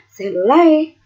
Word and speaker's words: cellulae: Tulisannya cellulae, tapi dibacanya cellulae ya.